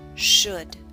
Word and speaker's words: should: book push put should note the L and should is silent should the next sound is